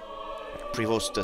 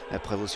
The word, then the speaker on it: Prévost: Prévost si on prononce à l'anglaise, Prévost si on prononce à la française.